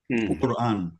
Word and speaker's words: Quran: So Q, like Quran. Quran is also that sound. Quran.